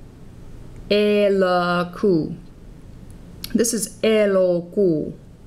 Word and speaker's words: elokuu: This is elokuu. That middle sound is an O. Elokuu, elokuu. The first sound is E, not E, like in bet or bed.